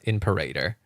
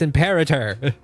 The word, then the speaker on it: Imperator: It's imperator. Like emperor.